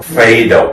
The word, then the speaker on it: Phaedo: I know that was the pronunciation. Phaedo.